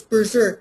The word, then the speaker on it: BZRK: the title of the book is berserk but it's spelled bzrk it comes through oh